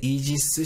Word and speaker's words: 이지스: 방패를 만드는데 여기에서 토막상식 ar 기술을 영어 식으로 발음하면 바로 이 짓습니다 이지 사람 들어보셨죠 미국에서 개발한 최신의 전투 책의 이지스 시스템을 탑재한 함정 이지스 가 바로 여기에서 이름을